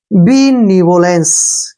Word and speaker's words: benevolence: BE से बन गया हमारा बी, ठीक है, बी। NEVO नीवो, क्या पढ़ेंगे, नीवो, नीवो, बी नीवो। LE का उच्चारण हो गया ले, और N का उच्चारण हो गया न, और CE का उच्चारण से हो गया, ठीक है ना। बीनिवोलेंस, क्या पढ़ेंगे इसको, बीनिवोलेंस।